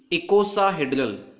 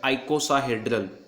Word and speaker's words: icosahedral: First and most common symmetry shown by viral capsid is icosahedral, or can also be pronounced as icosahedral, that is cubic symmetry.